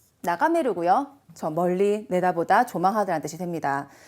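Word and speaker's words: 眺める: 자, 1번에 나가에루가 아니고 메루. 나가메루고요.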